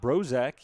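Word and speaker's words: Zbrozek: Brok is at second. Brok with a Z, by the way. Two Z's technically. Z B R O Z E K. The first one is silent.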